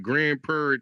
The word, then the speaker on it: Grand Prairie: Grand Prair, you got to say it like that. You got to say Grand Prairie. See, that's how they know if you a local. If you if you just say Grand Prairie like a regular person, they be